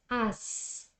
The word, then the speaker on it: asked: There you have 3 consonants in one word, not even being connected to another one. In that case, asked. That there, as, the s is not pronounced. So you say asked, asked, okay?